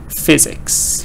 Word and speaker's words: physics: it's not hard so dada dada two syllables stress on the first part so you can see that in the word uh physics right physics but other words